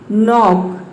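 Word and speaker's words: knock: एन आया है, तो इसमें हम के को प्रोनाउंस नहीं करेंगे। उसी तरह से यहाँ पे देखिए नीड, नी, नाइफ, नॉक, नॉलेज, तो इन सभी में क्या आया है,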